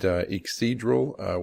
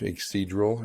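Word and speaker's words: Yggdrasil: I call it Ixidral, which is that's the actual name of the Norse tree of life, Ixidral. It's spelled Y-G-G-D-R-A-S-I-L, Ixidral wilderness oil.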